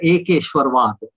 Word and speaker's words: एकेश्वरवाद: संधि कर देते हैं तो उसका उच्चारण हो जाता है एकेश्वरवाद.